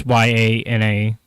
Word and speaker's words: Yana: Yana is pretty much phonetically as well. It's Yana.